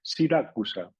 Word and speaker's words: Siracusa: de las cuales es escrito y pronunciado tal cual, Siracusa, como si se llamara ella Sira y se apellida Acusa, ¿no?